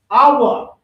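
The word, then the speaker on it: ahwa: So in Hebrew, you say awa. That means I want. Awa.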